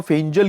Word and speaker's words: फेंगल: फेंगल नाम होगा, जिसका जो उच्चारण होगा वो फेंजल की तरह होगा, फेंजल।